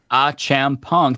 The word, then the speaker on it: Achampong: So Eric Achampong, last name pronounced Achampong.